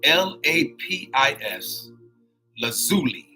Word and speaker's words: lapis lazuli: so now check this out it's lapis lazuri it's spelled l a p i s lazuli l a z u l i lazuli lapis